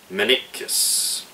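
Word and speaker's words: Maniquis: And a co-editor that worked with Robert Rodriguez on this film was Ethan Manikis. M-A-N-I-Q-U-I-S. Once again, I am fucking awful at pronouncing names.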